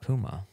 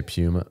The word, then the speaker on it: Puma: Do you say Puma? Like, Puma. How do they want us to say it over in England? Oh, is that how you say it? They get mad at us for saying Puma. Puma. They're like, ooh, Puma.